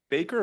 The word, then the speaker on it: Bacher: second panel Miss uh Baker or Bacher am I saying it right Bacher okay great uh and I have